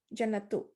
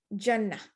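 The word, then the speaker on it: جنة: stop you're gonna say jannah right if you stop when you when you're reading reciting the quran you just say jannah so that's where the ha sound comes from but if you keep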